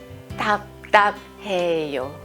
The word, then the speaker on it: 답답해요: To pronounce it, your mouth has to be shut. 답, which blocks air from coming out.